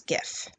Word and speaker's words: gif: do you pronounce jiff if you used a soft G like in jelly to pronounce the popular peanut butter brand you got it right if you went with a hard G like in goodie for those short shared looping videos you got that right - that is according